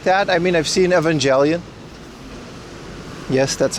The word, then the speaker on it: Evangelion: I mean, I've seen Evangelion. Yes, that's how you pronounce it.